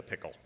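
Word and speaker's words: PICL: everything else in Washington it becomes an acronym the P immediately began being pronounced as the pickle Kennedy loved it he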